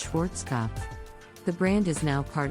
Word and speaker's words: Schwarzkopf: German Hair Care brand many people mispronounce this brandish Schwarzkopf but the correct pronunciation is Schwarzkopf the brand is now